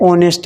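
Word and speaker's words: honest: क्या पढ़ते हैं, ऑनेस्ट मैन। तो उच्चारण में सबसे पहले ओ आ रहा है, तो इसलिए ओ जो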